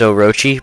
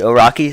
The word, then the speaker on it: Orochi: I believe the correct way to pronounce it is Orochi, but when I played this game, I pronounced it Oraki, so that's how I will be saying it.